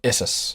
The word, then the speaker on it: Issus: Now we're at the Battle of Issus. Are you pronouncing it Issus so we don't get flagged off of Spotify? Yeah. No, it's spelled ISSUS.